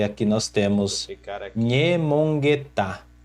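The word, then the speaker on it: ñemongeta: Esse nhê, esse N com o tio em cima, ele representa a consoante NH do português, que seria nha. Aí nós pronunciamos como nha, nha, com a língua colada ao céu da boca, nha, e ela é uma consoante nasal.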